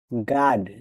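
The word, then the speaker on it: guard: পর ইউ আই দেখেন অবশ্যই ইউ লেটার ডি সাইলেন্ট থাকবে গড যে ইউ এ আর ডি গাড অর্থ পাহারা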